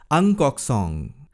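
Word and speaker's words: Ng Kok Song: they are NG song NG is pronounced as angkok song and tankin Lian you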